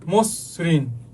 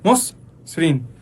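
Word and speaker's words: মসৃণ: অ শুরুতে থাকে তারপরে যদি ঋ অথবা ঋকার হয় তাইলে কি হবে এর উচ্চারণ মত হবে যেমন মসরিন মস দেখো এখানে কিন্তু প্রেসার পছে মসরিন তারপর হচ্ছে বক্তৃতা ঠিক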